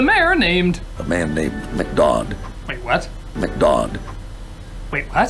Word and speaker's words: McDodd: A man named McDodd. Wait, what? McDodd. Wait, what? McDodd? McGod? McDodd. McGod? McDodd. D-O-D-D. You just call him that to rhyme with odd.